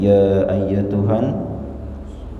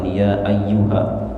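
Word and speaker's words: يا أيتها: ayat 27 yang berbunyi ya ayyatuhan nafsul Mutmainnah sebelumnya Mari kita lihat dari sisi bacaannya yang pertama di sini ada kata ya ayyatuha ya ayyatuha bukan ya ayyuha Biasanya kita baca al-quran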